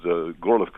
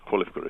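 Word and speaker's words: Горлівка: of a town called Gorlivka, or Kolivka if you prefer the Ukrainian pronunciation, are now death zones, to the total surprise of their inhabitants.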